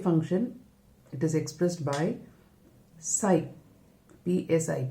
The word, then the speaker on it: psi: Wave function, it is expressed by psi, psi, p is silent there, the symbol is like this, it is called psi.